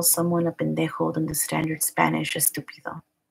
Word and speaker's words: pendejo: Pendejo is probably the least offensive of these P words.